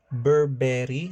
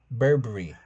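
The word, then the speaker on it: Burberry: No, it's givoni berberry. No, it's Berbery.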